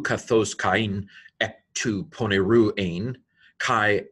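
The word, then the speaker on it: Κάϊν: It means don't pronounce this like a diphthong. Don't say kain, say kain, kain.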